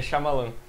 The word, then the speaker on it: Shyamalan: Tu sempre muda a pronúncia do nome, antes vai Shyamalan, Shyamalan... É Shyamalan. Shyamalan?